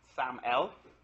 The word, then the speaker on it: SAML: It's stands for security assertion markup language and it's pronounced SAML.